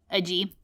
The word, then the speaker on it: Agee: came across your book the making of james a g wait is that how you pronounce his name agee ag i'm gonna forget